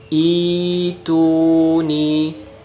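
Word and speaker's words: ائْتُونِي: ini di ICU nih Itu nih Hamzah washol dibaca kasroh kemudian Hamzah fotonya diganti jadi matte huruf Ya Sukun nya yg itu Nyi seperti itu sekarang bagaimana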